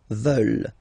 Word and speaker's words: veulent: And the last one, here EU, E, and then ENT, classic ending, but then you don't pronounce it, so you get veulent.